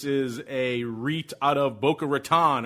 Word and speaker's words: Boca Raton: a reit out of boca raton or as the locals say boca raton they invest in private